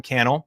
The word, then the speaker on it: Cannell: But hey, if we're just meeting, my name is Sean Cannell, rhymes with YouTube channel, and this is Think Media.